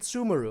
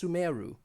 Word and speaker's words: Sumeru: I'm used to calling it Sumeru, okay? But apparently it's pronounced Sumeru.